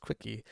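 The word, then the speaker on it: CWCki: quickie uh which is CWC Ki pronounced quickie um Goa the discussion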